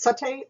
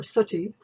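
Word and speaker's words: sati: let's consider the condition either pronounced SA or suti it's an Indian tradition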